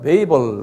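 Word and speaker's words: Babel: 영어는 베이벨 그러는데요. 그냥 발음 그대로 하면 바벨이 B-A-B-E-L.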